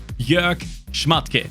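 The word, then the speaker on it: Jörg Schmadtke: That is how you say his name, by the way. I've seen so many people butcher it. Jörg Schmatke. That's how you say it.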